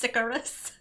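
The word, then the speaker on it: Sicarius: that and send it to brandon icarus is pronounced sicarious cigarettes so the max incinerate damage is about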